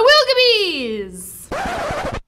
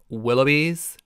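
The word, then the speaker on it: Willoughbys: of the bees the wilgabees uh excuse me it's pronounced willowbees as in willow and bees that was a good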